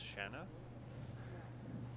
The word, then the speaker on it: Shanna: I think I said Shannon. It's Shanna. Trying to get in Okay, here.